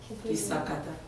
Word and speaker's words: Kisakata: Ma langue maternelle, c'est Kisakata. Kisakata, comme tu l'entends.